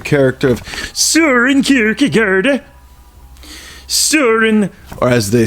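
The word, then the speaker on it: Søren: it concerns the character of sewer in Kierkegaard Suren or as they say in the the Dane pronunciation say it with me so it with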